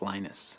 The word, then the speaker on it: Linus: speak Finnish it's Linus when I speak English it's Linus and I really don't care how people pronounce my name but Linux is always